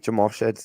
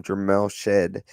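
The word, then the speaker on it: Jamal Shead: For whatever reason, they kept mispronouncing Jamal Shedd's name. They kept calling him Jamel Shed.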